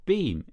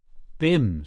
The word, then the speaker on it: Bim: and malankov's eyebrow Rose your beam is that how you pronounce it Bim said the other b